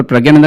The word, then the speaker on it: प्रज्ञानंदा: आपको बता दूं कि कई लोगों को लगता है प्रज्ञा नंदा गलत नाम है। दरअसल प्रज्ञानंदा ही सही नाम है। यही उनके तमिल नाम का सही उच्चारण है और इसके बारे में